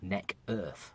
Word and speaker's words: Necketh: My username is Necketh, or Neck Earth, as I want to pronounce it.